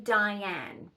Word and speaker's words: Dyan: you pronounce my name Dyan. Yeah. It is spelled D-Y-A-N. Yeah. Like Dyan Cannon, the actress, because obviously my father thought he was a hot blonde.